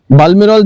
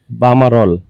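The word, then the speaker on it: Balmerol: বালমেরল থেকে sales head বামারল, বালমারল, এলটা উচ্চারণ হয় না। ওকে, বামারল। হ্যাঁ, বাম। তো এলটা একটু সাইলেন্ট, যেরকম স্প্যানিশে হয়ে থাকে, কিছু লেটার সাইলেন্ট হয়ে যায়, সো সেম কাইন্ড অফ বামারল।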